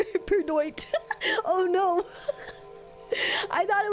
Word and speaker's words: peridot: Wait, I just realized I've been saying it wrong this entire time. It's peridot. Not period. My brain, oh my god, my brain swapped the O and the I. It swapped the O and the D.